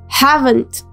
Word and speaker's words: haven't: Aquí quitamos la letra O del not y agregamos una comilla y la pronunciación es haven't, poniendo mucho acento en la letra T.